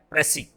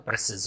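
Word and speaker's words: précis: और फिर थर्ड हमारा है प्रेसी, PRECIS, इसको इसमें एस लास्ट में आप एस देख रहे हैं, तो ये एस साइलेंट है ना।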